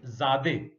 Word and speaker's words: Zadeh: इनका नाम था लोफी ज़ादे, LOTFI, T साइलेंट है, लोफी, और ज़ादे ZADEH साइलेंट है।